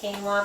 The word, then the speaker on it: quinoa: And it does not spell the way it pronounces. A lot of people are familiar with quinoa but don't know that's how you say it.